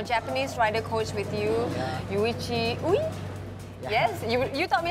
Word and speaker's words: Yuichi Ui: Okay, and you have your Japanese rider coach with you, Yuichi Ui? Yes, you taught me how to pronounce that.